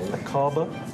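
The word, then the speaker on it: Aqaba: pilots to fly a brand new easyjet route acaba is that how you would pronounce it yes that's right iris it's acaba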